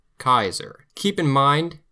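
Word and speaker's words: Caesar: Kaiser. Keep in mind, Kaiser in Latin and Kaiser in German sound very similar, not by coincidence.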